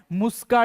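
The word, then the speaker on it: Musca: कोई इसको मुस्का पढ़ेगा कोई इसको मस्का पड़ेगा लाइक इस तरीके से सो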